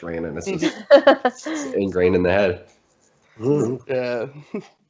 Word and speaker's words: Raanen: correct right close enough it's uh raining rain and okay yeah cool it's a weird one though i don't expect you to know how to pronounce it or i really don't expect anybody to know how to pronounce it it's it's quite confusing i've been friends with people for a whole year of my life that still called me ronan they just they looked